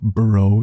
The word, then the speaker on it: burro: Now, normally, burro is pronounced with rolling R's, as it is a Spanish word.